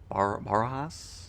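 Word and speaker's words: Barajas: Barahas I think is how that's pronounced.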